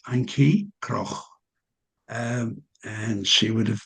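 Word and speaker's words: Antjie Krog: I'll pronounce the the name in in Africans. Her name is Anki Cro.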